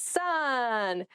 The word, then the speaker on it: son: daughter I don't have a daughter taken it's son a male child is someone's son son s o n is pronounced exactly the same as Su and son